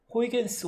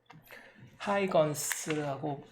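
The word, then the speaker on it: Huygens: 자, 새 종이를 열어서 호이겐스 원리, 여러분 책에 이제 1절에 되어 있는데, 하이건스라고 뭐 요즘은 발음하는 걸로 되어 있는데, 옛날에는 이제 호이겐스 그랬죠.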